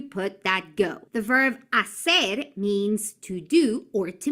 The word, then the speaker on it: hacer: Now remember, hacer, that H is silent. So we say hacer and the yo conjugation is hago.